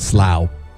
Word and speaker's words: Slough: Slough. It's spelled like American, we would say it's Slough, but it's Slough over there.